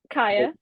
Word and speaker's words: Kiya: actually talking about like the announcing, and I think I've just said the name wrong, haven't Mm, I? Kaya.